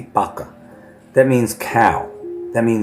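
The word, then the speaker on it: vaca: Vaka or in Spanish the V is pronounced with a B. Baka.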